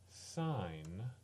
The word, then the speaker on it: sin: similarly y equals sine it's pronounced sine it looks like sin of T and those